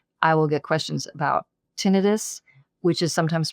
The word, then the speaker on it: tinnitus: will get questions about tinnitus, which is sometimes pronounced tinnitus, and there's not an agreement in the world about which way you say that.